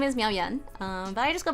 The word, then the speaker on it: Yuen: And uh fourth tone and then Yan is written like this. Technically the pinion is spelled wrong on my name but that's because I speak a different dialect than Mandarin. So this is Yen as in second time.